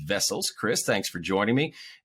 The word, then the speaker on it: Wessels: That is Wessels with a W, but it's pronounced Wessels.